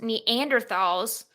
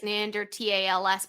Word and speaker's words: Neanderthals: Dragon Man, and it may help oust Neanderthals. Wait, has it always been? I think it really is Neanderthals, but we just say TH.